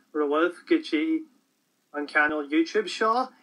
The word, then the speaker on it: seo: Today, I think I'm going to look at how to say this and that in Irish, which those words in Irish are shaw, meaning this, and shin, meaning that. So, let's have a few examples here, and they'll be up here on the screen for you.